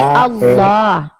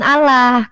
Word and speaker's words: Allah: Kalau kamu baca al l ah bukan alah karena l-nya dua maka bacaannya bentar bentar kita kena pelanggaran, Guys.